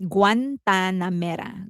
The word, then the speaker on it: Guantanamera: Um, it is pronounced Guantanamera.